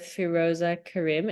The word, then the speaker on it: Feroza Cariem: So I'm here with Feroza Cariem.